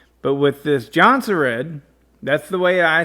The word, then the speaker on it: Jonsered: However, the appropriate pronunciation is Jonsered. Jonsered. The J in Sweden is pronounced like our Y.